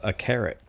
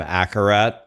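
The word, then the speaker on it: Akarat: Um Jane, the main uh protagonist in this story is a carrot. A lot of people incorrectly call him Acarat. I don't know why. His name is clearly a carrot.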